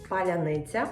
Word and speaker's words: паляниця: What I'm going to cook, very special and symbolic type of bread, which is called паляниця. If you can pronounce this word, that means you are true Ukrainian.